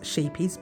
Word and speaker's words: Scheepjes: It's actually pronounced Scheepjes, but it looks like Scheepjes. Yeah. So Scheepjes Cotton, and I haven't got the label to it, but that's it.